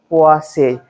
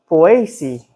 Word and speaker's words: Poaceae: So in, I think mostly American, they say Poaceae. If you, when you go to the European countries, Ireland, the UK, France, and so on, it's pronounced Poaceae. Ace be changed to AC.